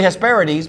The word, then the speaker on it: Hesperides: Which is really Hesperides because if you look at it the way it's spelled, but we never knew that.